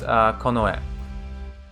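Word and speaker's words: 近衛: When you put these two together, this one is pronounced kin, or it's pronounced chika, and this other one's pronounced e, but you put them together, and it's konoe.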